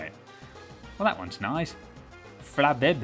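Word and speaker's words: Flabébé: Flabbe, is that how you say it? It's got two accents on the e. Bl accent eu is more of an a sound, right?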